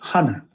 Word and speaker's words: honor: So, what's the purpose of having the H there? You're not you're not screaming the H. Honor. Your honor. It's honor. Your honor.